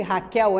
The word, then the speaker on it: Raquel: Queiroz escreve-se Rafael mesmo escreve Raquel e pronuncia-se Raquel antes que você tenha